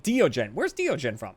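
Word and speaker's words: Deogen: It's Dutch. It's actually two words, Diogen, or the eyes. So the DE is duh. Duh with a really short vowel. You just let that drop off immediately. O, like, oh my god. Okay. Gen is pronounced like gun with a very short U and a guttural G.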